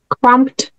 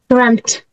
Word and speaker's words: cramped: what about this one how do we say crumped crumped no no cramped cramp yeah have to be and like T cramp together guys cramped